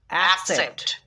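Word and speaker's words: accept: আর একটা উদাহরণ দেখো, এসি এক, সি ই পি টি সেপ্ট, অ্যাকসেপ্ট, অ্যাকসেপ্ট মানে গ্রহণ করা।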